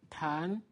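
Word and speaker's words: 谈: this and4 pound town so here tongue is sugar but you have tan tan that means discussion to debate to discuss about something time so be careful about the difference of pronunciation let me write this tan and tongue you feel a difference tongue time and during this week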